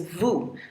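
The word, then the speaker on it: vous: The next one is vu.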